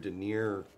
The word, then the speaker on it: denier: It's like a 500 denier. Denier, I think is how that's pronounced.